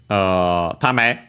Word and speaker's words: 為: Tame, accent on the last mora, and yeah, we have already found this term because it's quite important.